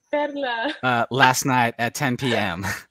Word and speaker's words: Perla: But anyway, yesterday I would said, Kevin, I'm trying to get everyone to pronounce my name Pedla.